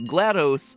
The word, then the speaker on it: GLaDOS: As far as how you pronounce GLaDOS, GLaDOS, GLaDOS, apparently is a viable option. It's at least in the Wikipedia page.